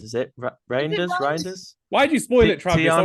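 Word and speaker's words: Reijnders: I think it's pronounced Reinders. Is it Reinders?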